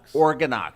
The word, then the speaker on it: OrganOx: And organox. Yeah, that's how you say it. I got the emphasis on the wrong syllable.